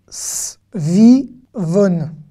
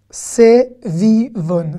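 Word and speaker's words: סביבון: S, vi, von. Sevivon. Sevivon, c'est une toupie. Sevivon. Ou svivon. Hein, voilà, si vous voulez vraiment mettre l'accent, c'est comme ça que ça se dit.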